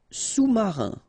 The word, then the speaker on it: sous-marin: Sous-marin. Okay, so E-N here. Un, rein, marin. All right, and remember, sous. Okay, final S not pronounced, so S-O-U. Sous, sous-marin. Utile.